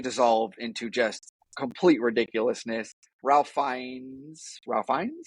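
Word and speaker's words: Ralph Fiennes: into just complete Ridiculousness Ralph fines I always say his name I always get ra fines um nah just nah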